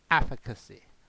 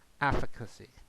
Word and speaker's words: efficacy: So try to pronounce the word efficacy, efficacy, not efficiency.